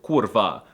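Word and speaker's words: kurwa: it as the short kurva, but often they pause a bit on the rolled R for emphasis and say something like Kurva!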